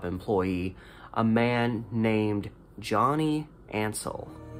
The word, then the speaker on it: Ansel: his last name right his last name was spelled n-n-a-n-s-e-l so i think ansel it's hansel without the h is kind of how i think about it johnny ansel had been